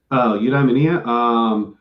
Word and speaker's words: Eudaimonia: And so how for somebody who's just now being exposed to your work, how would you describe is my pronunciation Eudaimonia? Eudaimonia.